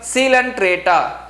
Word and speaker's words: Coelenterata: Next we move on to second phylum, phylum Coelenterata. Children, listen very carefully. The pronunciation is very different. The spelling is different, the pronunciation is different.